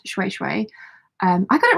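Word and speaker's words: shweshwe: Diana says, today I'm making a handbag from African shui shui, pronounced shui shui.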